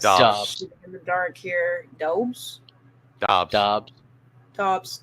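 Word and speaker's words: Doubs: Dobbs. Okay, that's not how that looks, but all right.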